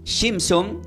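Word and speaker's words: Shimshon: el nombre Sansón se se pronuncia como Simpson pero no son los Simpson nada que ver con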